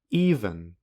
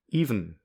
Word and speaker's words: even: there is no vowel even is another example you could say even which has a vowel between and hmm or you could say even in this pronunciation there is no vowel another example for um